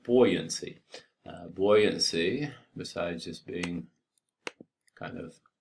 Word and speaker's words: buoyancy: Buoyancy, besides just being kind of sometimes something we really kind of misunderstand in some ways. First of all, it's spelled B-U-O-Y, which doesn't look right, buoyancy.